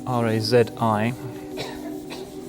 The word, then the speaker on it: Razi: two great towering figures one of them is razi held it for not to write his name up because it should be easy r-a-z-i razi in this part of the world he